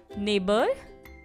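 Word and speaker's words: neighbour: नेबर, daughter, fight और straight, NAI ने, GHPOUR बर, ठीक है। तो यहाँ पे जो G और H का जो साउंड है वो साइलेंट है, ठीक है।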